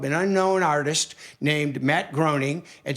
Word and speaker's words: Groening: And sorry, Matt, we know your name is pronounced Groening, but that's okay.